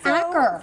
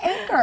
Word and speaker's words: Acker: It's Amy Acker, not Acker.